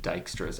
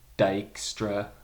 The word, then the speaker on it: Dijkstra: famous computer scientist he his name is Dutch so there's J right here you don't pronounce it